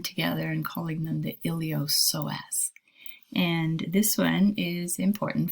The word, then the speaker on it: iliopsoas: joint sartorius next an iliopsoas p is silent iliopsoas and this really is